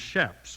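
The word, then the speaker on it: chaps: Shaps is spelled C H A P S and it's pronounced shaps with an S sound.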